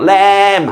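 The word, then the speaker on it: lamb: 영어 단어가 mb로 끝나면 모든 단어는 이때 비무음입니다. 웅부 아니고 웅 자 새끼양 새끼양 야 새끼양 새끼양 어 램 하고 울잖아요. 램 램 발음하 어 폭탄 본부 아니고 뭐예요? 범 됐죠?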